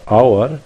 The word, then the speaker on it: hour: We say N for hour because we don't pronounce the H.